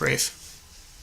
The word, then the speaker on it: Ralph Fiennes: Is it Rafe Fiennes or Ralph? It's Rafe. What? I think it's Rafe Fiennes. Rafe? Yeah. I think he pronounces it like an idiot. It's R-A-L-P-H, but I think it's Rafe Fiennes.